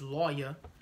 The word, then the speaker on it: Levi: Levi is lawyer. That's how you say it in the Hebrew, lawyer, which means join unto me.